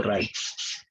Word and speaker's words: Reich: Se pronuncia así, el Segundo Reich.